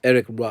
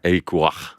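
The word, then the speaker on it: Éric Roy: But it's actually Roy, isn't it? Yes. Eric Roy. That's how they say it. Eric Roy.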